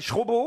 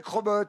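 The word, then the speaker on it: Chrobot: Alors que ça s'écrit C-H-R-O-B-O-T, mais on m'a bien dit il faut dire Crobot, alors j'ai dit C'est bien. Crobot. Voilà, parce qu'on vous appelle Schrobo autrement?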